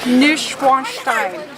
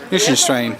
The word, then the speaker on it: Neuschwanstein: This is how you pronounce it. Neuschwanstein. Neuschwanstein.